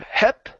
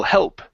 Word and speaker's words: help: here is help okay instead of help okay give me that l sound hell help help all right very good